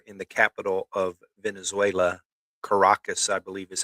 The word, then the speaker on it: Caracas: But multiple explosions there in the capital of Venezuela, Caracas, I believe is how you say that, isn't it, Ronnie? yes, Caracas, I believe.